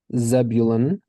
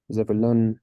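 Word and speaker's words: Zevulun: we've got ziv uh so in English Zebulon so that turns into a zevulon it's kind of a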